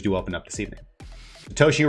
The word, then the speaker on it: Toshi: open up this evening Toshi rhymes with Yoshi and there are one